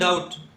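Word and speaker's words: doubt: इसको बोलते हैं डाउट, बी का उच्चारण नहीं होता है, तो डाउट इसमें साइलेंट बी है।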